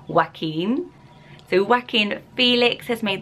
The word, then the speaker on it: Joaquin: confusing as well, because you might want to say Joaquin or something like that and pronounce the Q, because we're used to that name. So it's a very, very hard one, but it is pronounced Joaquin.